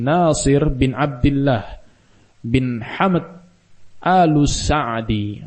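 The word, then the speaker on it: السعدي: Beliau adalah Abdurrahman bin Nasir bin Abdullah bin Hamad Al-Sa'di, atau sebagian membacanya dengan Si'adi.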